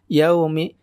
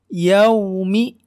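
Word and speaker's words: يَوْمِ: meet seperti itu ya jadi harus monyong jadi jangan Yaomi Yaomi Yaomi Nah itu tidak tepat meliki you yaumi seperti itu ya Ia omeed dinke Hai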